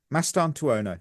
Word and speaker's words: Mastantuono: So the first name is Franco Mastan Tuono. Mastanu.